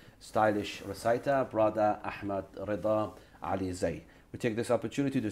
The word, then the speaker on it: Alizai: You pronounce Alizai, yeah? Alizai.